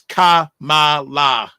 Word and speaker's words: Kamala: The way to pronounce her name is Kamala.